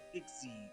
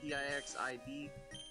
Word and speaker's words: Pixiv: So the first one is about Pixie. Is that how you say it? P-I-X-I-V?